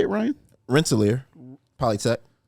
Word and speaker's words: Rensselaer: janitor at the illustrious uh rensselor am I pronouncing that right is it wrestler Polytechnic Institute Rensselaer Rensselaer uh yeah I I know I don't know